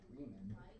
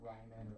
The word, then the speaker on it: Riemann: Riemann. What? Because I know these are all famous mathematicians. Yeah. So the Riemann sum theory is a very famous mathematical conjecture that Bernard Riemann, not Ryman, or you know what I mean.